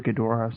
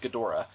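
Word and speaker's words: Ghidorah: Destroy All Monsters is gadora yeah I usually I usually do that but then sometimes I slip and called gdor gedra anyway because it has less syllables and it rolls off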